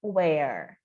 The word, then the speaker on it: where: Então, aqui, where, de novo, esse E mudo no final, a gente termina com o som do R, e o W tem o som de U em inglês. Então, where. E esse H aqui é mudo, né?